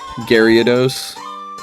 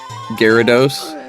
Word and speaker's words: Gyarados: Garyos. Now you said it wrong. Gyarados.